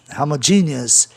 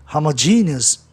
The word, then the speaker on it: homogeneous: A palavra termina em neos, homogeneous, é uma sílaba só, né? Aliás, perdão, ali é um ditongo, então termina em OS, você conta a sílaba OUS, conta o E, né? E conta o E de GE, que passa a ter o som I, homogeneous, bem forte, para você escutar a palavra proparoxítona, e também porque GE